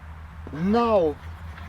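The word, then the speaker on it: know: mais c'est là hein, qui se prononce now, savoir, knife, couteau. D'accord? Vous prenez hein, donc tous les mots, j'imagine, bon ça doit être la racine, je vais dire germanique, hein, où on a le KN, eh bien vous avez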